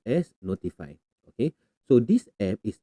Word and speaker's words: ntfy: and the second one is notify Dosh ntfy pronounced as notify okay so this app is actually free it's